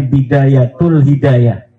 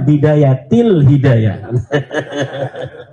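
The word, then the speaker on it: بداية الهداية: ada huruf jar B katanya dibacanya bidayatul hidayah. Harusnya bidayatil hidayah.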